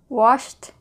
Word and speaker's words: washed: sounds like did collided washed oh that's very good C8 is a CH sound which is an air sound then therefore Ed sounds like T watch watch missed very